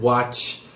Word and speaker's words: watch: wise when you said watch you did the watching the e so many Korean people when a word ends with ch or SH they attach the EE sound but try not to do that that's fine I enjoy